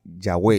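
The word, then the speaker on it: Yahweh: dees tetragram y entonces de ahí viene la pronunciación yahwe yah Y entonces podemos nosotros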